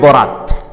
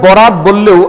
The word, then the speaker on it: বারাআত: হচ্ছে রাত্রি বরাত শব্দটা বরাত বললেও আসলে এটা আরবি শব্দ মূলত উচ্চারণটা বারাত মানে মুক্তি পাওয়া তাইলে